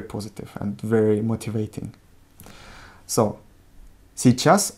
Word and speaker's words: сейчас: So, сейчас урок. In сейчас, the emphasis falls on a, and in урок on o.